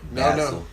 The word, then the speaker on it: Basel: back from uh recently you went to Art bezel mhm 2016 yeah did we did Art basil Miami this year say it right basil basil art B you say we say however